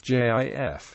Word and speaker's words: GIF: Brand's television commercials and alternative pronunciation with a hard G is in widespread usage the American Heritage dictionary